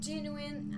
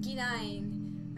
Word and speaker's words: genuine: was genuine horror yeah before I heard genuine I I said gine I used to pronounce it like that until I heard it's genuine like oh okay I've